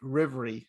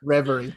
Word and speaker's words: Reverie: of this book called rivery am i pronouncing it right tara reveria reverie reverie how are you doing